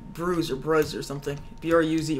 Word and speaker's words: Bruz: B-R-U-Z, right? Mm-hmm. Yeah, so I don't know if it'd be considered a bruise, so to me... No, B-R-U-Z. Yeah, bruise, but bruise is spelled B-R-U-I-S-E. That's bruise.